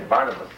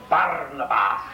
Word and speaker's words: Barnabas: in in this company in English would say Barnabas but down there was Barabas and that was exactly